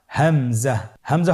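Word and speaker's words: همزة: পরবর্তী হরফটির নাম হামজা। হামজা হরফটি উচ্চারণের ক্ষেত্রে বারিক করে উচ্চারণ করতে হবে এবং এখানে টেনে পড়া যাবে না।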